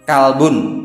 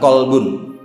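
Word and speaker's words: كلب: Kalbun, bukan kolbun. Ini mengingatkan aja, manajemen kalbu itu berarti ngatur anjing. Kalau ngatur hati, manajemen kolbu.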